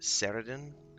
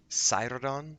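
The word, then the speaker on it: Saeradan: on the road south i've pronounced that incorrectly all this time i always pronounce it saraden and he just said what did he say let me repeat it we will have need of cyrudon's calming wisdom on the road south cyrodon and i always said cyridin siredon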